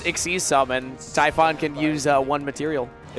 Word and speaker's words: Typhon: Tyon Typhon.